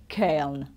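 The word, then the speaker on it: colonel: This one is a real strange one because it's spelled the French way, but it's not pronounced the French way at all. It's actually Kern, okay? It's like, what's that? It's nothing to do with how it's spelled, Kern.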